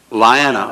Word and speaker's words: Liana: Okay, Andy, that last name, Liana. Okay, I got. Like what it's spelled like.